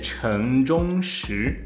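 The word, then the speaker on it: 陈忠实: E eu vou passar a pronúncia do nome pro Caleb. Caleb, por favor. O nome dele é Chen Zhongshi. Exatamente. Quando eu leio é Shen Zhenxi.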